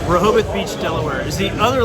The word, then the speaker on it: Rehoboth: Beach should I say it right that's right Rehoboth Beach Delaware is the other location the only